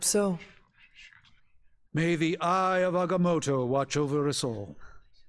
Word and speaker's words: Agamotto: May the Eye of Agamotto watch over us all. Wow, he actually pronounced it right. Oh, thank you for not going with their erroneous coaching. That was correct.